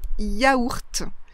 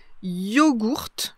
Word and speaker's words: yaourt: Alors moi je dis yaourt, c'est mon habitude de dire yaourt et de l'écrire comme ça. Mais vous pouvez aussi rencontrer yogourt, yogourt, yogourt. Vous entendez la différence? Yaourt, yogourt. Donc là on prononce le G. Et puis on commence avec un O, yo, et pas avec un ya.